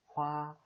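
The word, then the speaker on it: hoa: 그래서 바나나 꽃은 화. 이 화는 성조가 없죠. 그래서 평행하게 화, 조이, 화, 조이 라고 읽어주면 됩니다.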